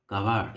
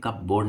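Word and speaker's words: cupboard: तो bring a bag from the कवर्ड। इसे कब बोर्ड नहीं पड़ता, कवर्ड, कवर्ड। खरीदना, बाय या परचेस, दोनों होते हैं।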